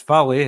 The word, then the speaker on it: Valle: John do you know is it Valley it's Valley I like Frankie Valley right Frankie Valley has